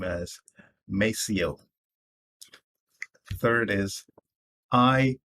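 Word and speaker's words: Maceo: as my day the next is m-a-c-e-o i pronounce that name as mesio the third is i j a w i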